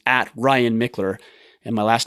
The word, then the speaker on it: Michler: It's at my personal Instagram, so it's at Ryan Michler, and my last name is spelled Michler.